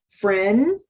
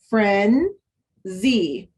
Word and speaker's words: frenzy: Here we have a short E because this is a closed syllable. And here, what sound does this letter Y represent in this word? E, that's right. And at the end of multisyllabic words, Y does represent that sound, E.